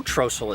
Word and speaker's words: Trossel: How do we know Trossel is the right way to say it? I don't know. Well, there's Trossels around here living today. They all call it Trossel. So that's a pretty good way to know how something was pronounced during the Civil War.